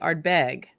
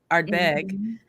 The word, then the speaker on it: Ardbeg: we get there and everybody's saying art bag art bag no but more instead of go more yeah you know so the the emphasis on the second syllable so if if we